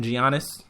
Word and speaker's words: Giannis: And Giannis Antetokounmpo, who I kept calling during the NBA preview, I kept calling him Giannis. I'm sorry, Giannis, I had no idea that the G is pronounced like a Y.